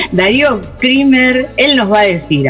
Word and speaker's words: Krimer: Pues bueno, ¿cómo se pronunciaba el apellido, por favor? Porque El apellido es Krimer.